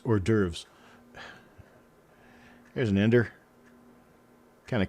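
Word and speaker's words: hors d'oeuvres: I could read it, but how could I possibly have known that horse doovers was actually pronounced or derves?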